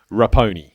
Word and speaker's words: Raponi: diabolical how do i say your last name rappone rappone so we've got lapony good idea